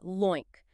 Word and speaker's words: LOINC: We pronounce that LOINC.